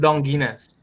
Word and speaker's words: Donguines: It's Ah, it's pronounced Donguines. Donguines. Okay. Yeah, Boom, boom. Perfect.